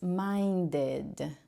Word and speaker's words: minded: d or I sound this one you should be pronouncing as minded with the I sound minded okay second one how